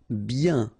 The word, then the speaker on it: bien: Bien. Okay, so remember, when you get this combination of I-E-N, you get the sound yen, yen, okay, and then B.